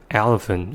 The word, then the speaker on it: elephant: look at the words elephant again we say the words as elephant for those students not knowing the existence of schwa rules they may spell the words as e-l-e-p-h-e-n-t or e-l-a-p-h-e-n-t when they try to